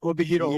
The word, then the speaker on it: Obihiro: pronounce it? Yeah, Obihiro, Yeah, Hokkaido.